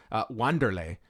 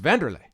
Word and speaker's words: Wanderlei: I mean we don't we don't call wonder lay yeah it's Vanderley its Wanderlei but I